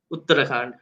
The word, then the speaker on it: Uttarakhand: The case was in that state, We, so that and this is state's with high how do you court, pronounce the name of the state? Uttarakhand.